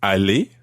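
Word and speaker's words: allez: do you spell that a-l-l-e-z is Ali a-l-l-e-r good okay they sound exactly the same Ali he said Ali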